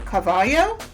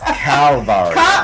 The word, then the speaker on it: Calvario: Arnel Carbaugh. I'm saying his last name wrong. Dr. Arnel Carbaugh. He's going to kill me. It's Calvario. Calvario.